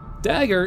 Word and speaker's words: Dagar: Dagger is spoken like Dug, the past form of dig, and a pirate R.